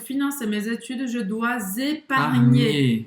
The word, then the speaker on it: épargner: Então, pour financer mes études, je dois épargner. Então, o GN, aqui, desculpa, Roberta, o GN tem quase o som do NH em português, mas um pouco mais pronunciado.